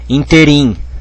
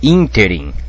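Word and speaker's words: ínterim: pegadinha por quê porque tem gente que fala interin né mas não é interin é interim interim com assento aqui é pr paroxitona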